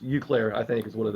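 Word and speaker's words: Eau Claire: Is it Euclair? Yeah, EAU? yeah, Euclair. Okay, yeah, just Euclair, I think is what it is.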